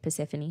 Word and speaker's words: Persephone: I finally know how to pronounce it. That's apparently how you say it, Persephone.